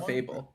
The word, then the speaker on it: Clefable: Clefable. Why did I say Clefable? Clefable. Trying something out. Able to be cleft. That's a verb. Yeah. It Will looks seeming like pretty a music clefable staff.